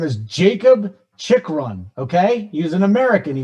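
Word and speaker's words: Chychrun: j reader you really busting balls on my pronunciation here his name is jacob chick run okay he's an american he was born in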